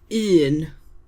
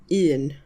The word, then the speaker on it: un: One is Ian. That's u N. Ian.